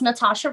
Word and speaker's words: Nathasha: Well, you can find me on Instagram and YouTube as Vocally, or just Nathasha, and there's a silent H after the T.